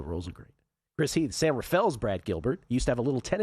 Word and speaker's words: San Rafael: It's San Rafael, but you don't pronounce it that way. You say San Rafael. Because if you say San Rafael, you are clearly not from That's the another Bay.